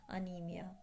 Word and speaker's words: anaemia: Okay, so this ANAEMIA, this is pronounced as anemia.